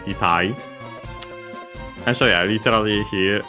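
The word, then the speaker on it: 痛い: which means painful, sore, accented, itai.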